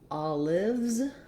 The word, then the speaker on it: olives: um just a note when we make it plural all lives we have the z sound um at the end which for many people